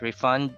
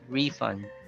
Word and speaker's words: refund: Okay, it's not refund, but refund. But if they are used as verbs, you have to stress on the second syllable.